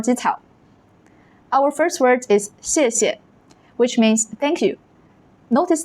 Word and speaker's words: 谢谢: Our first word is 谢谢, which means thank you. Notice that the second syllable is usually light and unstressed, like 谢谢, 谢谢.